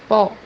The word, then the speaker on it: pó: The second pronunciation for this letter is unfinished O. So it's not a complete O. The example that we have here is the word powder, which means in Portuguese pó, pó, The third pronunciation